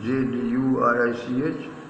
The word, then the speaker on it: Zurich: Zurich, the आधा जा, इसका pronunciation Jurich, आधा जा, या में बड़े ऊ की मात्रा, रा में छोटी की मात्रा और का.